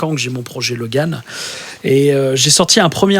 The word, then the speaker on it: L0G4N: Et depuis maintenant 3 ans, j'ai monté un projet solo qui s'appelle, attention, un nom incroyable, Logan, qui s'écrit L0G4N, qui est trouvable d'ailleurs sur Spotify,